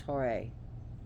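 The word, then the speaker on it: Horai: deities are the seasons h o r a i but pronounce hoare so there is and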